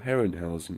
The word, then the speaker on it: Harryhausen: parents Frederick and Martha Harryhausen or Heron house as it is pronounced in his native language witness a trio brain